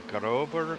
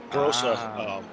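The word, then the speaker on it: Große: Well, that's pronounced double S, so that's actually Grosse Preisstrecke.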